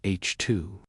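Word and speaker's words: HII: These bright glowing regions are known as H2 regions, pronounced H2.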